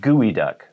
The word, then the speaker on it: geoduck: through oregon maybe even into northern california but gooey duck a very large clam with a very large